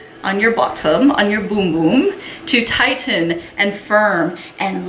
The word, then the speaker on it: Bum Bum: brazilian bum boom cream it is pronounced boom boom in portuguese it is not pronounced bum bum I know a lot